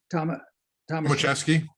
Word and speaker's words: Tomaszewski: How do you pronounce it, John? Tomaszewski.